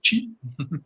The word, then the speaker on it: qi: Alors, ça s'écrit qi, mais ça se prononce qi.